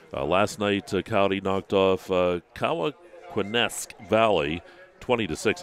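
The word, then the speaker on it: Cowanesque: night Cy knocked off kaak quesque Valley 20 to6 I think that's how you say it k in you no it's con it's c o w a n e s q u EES and you know and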